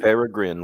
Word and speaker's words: Peregrine: Peregrine, like the falcon.